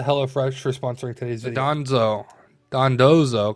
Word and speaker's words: Dondozo: for sponsoring today's Gonzo dondozo because I always say it wrong the danzo is what I say I know it's dandoza